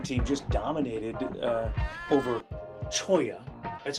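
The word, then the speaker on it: Cholla: Uh Buena wrestling team just dominated uh over Choya. That's how it's pronounced, right? Choya.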